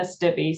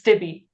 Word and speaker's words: Stibbe: I was just saying Stib. I was Yeah. losing the B and the E at the end. Yeah, it's not an obvious name. It's one of those Germanic names that is actually in Germany, it's pronounced Stibbe or Stibbe. So the E is an A kind of thing. But in England, for some reason, it was Stibbe.